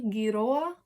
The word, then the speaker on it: giroa: So most of our G's are g, but this one is a hard G. Giroa.